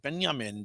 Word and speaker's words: Benjamin: She used to pronounce it Benjamin because she's a Dutch woman.